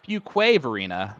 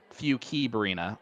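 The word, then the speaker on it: Fuquay-Varina: the chat uh automatically corrected me on the pronunciation of the city that he is from which is Fuquay Varina not few key Barina although I will be honest Alex I looked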